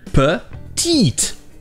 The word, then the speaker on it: petite: C'est le mot petite. Encore une fois, deuxième syllabe accentuée avec le son du I en français. Petite, petite.